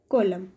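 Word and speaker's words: column: तो कॉलम में क्या है, एन साइलेंट है।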